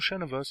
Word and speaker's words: Xenoverse: If I do pronounce it wrong, I do apologize. It's Xenoverse.